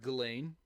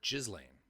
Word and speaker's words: Ghislaine: And so I've heard Ghislaine and I've heard Ghislaine. I like Ghislaine because fuck that bitch. Yeah, I've heard it both ways too. And if she didn't want the S pronounced, there wouldn't be an S in that name as far as I'm concerned. Ghislaine it is.